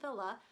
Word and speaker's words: Wille: buy Patti's pearls com search Ellen Villa last name is spelled WI ll e the style is fortune